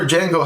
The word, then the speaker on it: Django: video uh the war Jango has a D in front which apparently is silent and I completely butchered